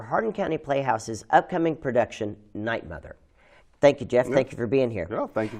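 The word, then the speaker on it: 'night, Mother: of this show right is it good night mother or nightmare it's night mother with it what possible with your poss red boots good night mother right and you know people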